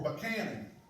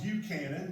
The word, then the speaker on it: Buchanan: right after another, for Buchanan. It's spelled Buchanan, but it's Buchanan if you're from there.